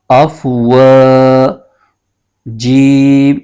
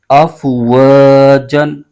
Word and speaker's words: أَفْوَاجًا: تو یہاں پر یہ دو زبر کی تنوین یہ الف میں بدل جائے گی. اس کے ہجے یوں کریں گے، حمزہ فا زبر اف، واو الف زبر و، اف و. جیم دو زبر جن، اف و جن. آگے وقف، اف و ج، اف و ج.